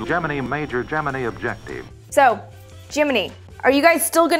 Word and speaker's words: Gemini: the NASA guys PRT pronouncing it Jiminy as in cricket still don't believe me check out all of these NASA film reels describing it as the Jiminy program anticipation was high